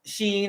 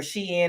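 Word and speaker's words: Shein: Teemu or TAMU and you've got Sheen or she in however you want to pronounce it but wish was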